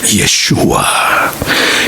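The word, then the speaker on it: ישוע: 그래서 여호수아의 이름 자체가 예수의 이름에 대한 히브리식 발음이라니까. 예슈와.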